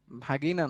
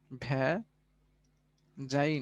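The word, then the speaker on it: vagina: ভাগিনা না, আসলে এটার উচ্চারণ হবে ভ্যা যাই না, বা বাংলায় যোনি বা স্ত্রী জননাঙ্গ।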